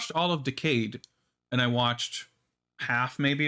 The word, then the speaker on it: Decade: because it was um i guess it should be decade but it's pronounced decayed it's more anime that way um it was a